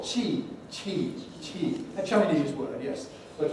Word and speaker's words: qi: And how do we pronounce this word? Tea. I forget the tone. It's tone 4. Qi.